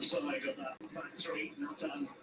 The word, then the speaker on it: Nathan: Nathan, so he pronounces it.